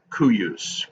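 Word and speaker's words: cuius: And the C's, they're sort of like pronounced like a Q. So cuyus, qui.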